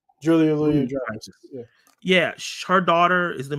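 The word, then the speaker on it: Julia Louis-Dreyfus: Julia Louis Dreyfus.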